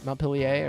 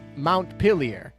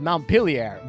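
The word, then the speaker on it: Montpelier: Vermont I think and in that City they call it mount pilier and so this is a U.S ship so this is definitely called montpilier but all the French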